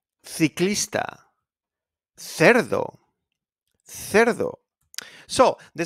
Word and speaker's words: ciclista: Casa, casa, coche, coche, cucaracha, cucaracha, la cucaracha, ciclista, ciclista, cerdo, cerdo. So the C is pronounced like a K, and also is pronounced sometimes when you say thank you.